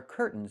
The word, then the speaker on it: curtains: It's curtains with a real T. curtains or I can use a stop t and say curt stop the air put the tongue up curtains and go directly to the n curtains.